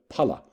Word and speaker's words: pala: of weight in Sanskrit is the pala notice it's a short a pala whose other meaning